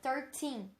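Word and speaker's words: thirteen: Temos que tomar cuidado para não confundir o T com a pronúncia do teen. Porque, por exemplo, 30, que é o 30, 13, que é o 13. Então, tem essa pronúncia um pouco mais alongada, 13.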